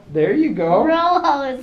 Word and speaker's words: rojo: do you spell that now how do you pronounce that Rojo there you go Rojo it sounds like Robo yeah but sound but